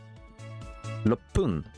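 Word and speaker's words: 六分: En gros, il se prononce pas parce que 1 c'est Ichi, c'est Hippon. 6 c'est Loku, Loppun. 8 c'est Hachi, Happun. Et 10 c'est Ju, Jupun. En fait, le pun va être plus prononcé. Le P va être plus fort.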